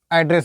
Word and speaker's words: address: Spelling same होती है एड्रेस, लेकिन मेन वर्ब की तरह अगर ये पता मेन वर्ब की तरह ये प्रयोग किया जाएगा तो इसका प्रोनाउंसिएशन चेंज हो जाता है। क्या हो जाता है? एड्रेस हो जाता है।